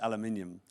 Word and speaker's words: aluminium: Well, we spell it with another I, so Right. we pronounce it aluminium.